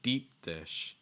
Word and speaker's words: deep dish: have long eye shorter so deep long eye sound deep and against it's deep and your second one short i sound dish dish okay it's like deep dish deep dish okay um so that's our